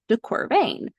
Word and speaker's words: de Quervain: pneumonic for this is pain rhymes with deor vean um does anybody know